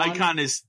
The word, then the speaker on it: Eikon: When you should say that the next one, icon is spelled EIKON.